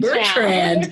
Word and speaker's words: Bertrand: I think I've actually said your last name wrong because you're recently married and I said Percy and it's not. It's Bertrand. Bertrand.